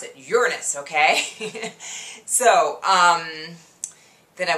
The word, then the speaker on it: Uranus: is very important and that is how we pronounce it Uranus.